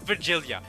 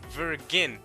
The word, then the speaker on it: Virgilia: Not Virgilia. It's not like virgin, like the gene virgin. It's Virgilia. So it's like Virgil from Devil May Cry.